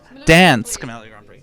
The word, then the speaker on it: Dansk Melodi Grand Prix: Wow, I love their pronunciation. No, let's get it right. Dansk Melodi Grand Prix.